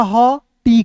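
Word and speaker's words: hot: एच का ह, टी का ट, ओ का उच्चारण औ के रूप में हॉट। क्या पढ़ेंगे, हॉट, एस्टॉप, हॉट। ठीक है, होठ नहीं पढ़ लीजिएगा, बहुत लोग होठ पढ़ लेता नहीं दोस्तों, गलत प्रोनाउंसिएशन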